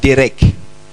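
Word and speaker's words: דרך: Le mot processus vient d'un mot hébreu qui veut dire un mot hébreu qui qui se prononce derec.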